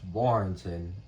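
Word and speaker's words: Warrenton: Okay, again, it's pronounced Warrington, and the F city is pronounced Falmouth, not Falmouth.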